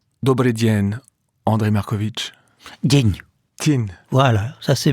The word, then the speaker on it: Markowicz: Markovitch. Ça rime avec sandwich. Dobry dzień, Andrei Markovitch.